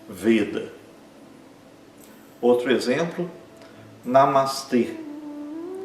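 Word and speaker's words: namaste: Então é namastê e esse e é longo, né? Os dois a são curtos. Namastê, né? Exagerando um pouco, né? Ninguém vai falar de um modo tão exagerado, mas seria namastê com e longo no final.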